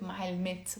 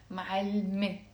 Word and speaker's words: معلمة: It has a T مربوطة that's silent. Silent T. So we write it معلمت, but we don't pronounce it معلمت. We pronounce it معلمة.